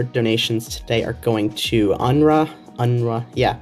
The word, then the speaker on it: UNRWA: All of your donations today are going to UNRA. Yeah, it's usually how it's pronounced.